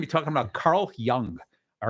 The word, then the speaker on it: Jung: So today we're going to be talking about Carl Jung. All right. Although it's spelled Jung, it's pronounced Young.